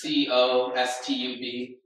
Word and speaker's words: Kaustubh: So my name is Kaustubh. It's pronounced Costub.